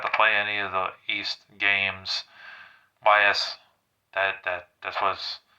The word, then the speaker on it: Ys: play any of the East games. YS, that's what's spelled Y and S. You get the point. But it's pronounced East or Ease, however you pronounce the name of that game.